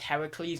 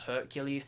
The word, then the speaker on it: Heracles: I'm pretty sure it's pronounced Heracles, not Hercules, because I'm listening to a Greek audiobook on Greek mythology at the moment, and they pronounce it as Heracles, not Hercules.